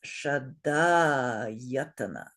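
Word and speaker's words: ṣaḍāyatana: So this word has 5 syllables, but 6 beats. So 4 short and 1 long.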